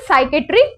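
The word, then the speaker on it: psychiatric: next है साइकेट्रिक department इसमें P silent होता है this is साइकेट्रिक department and this department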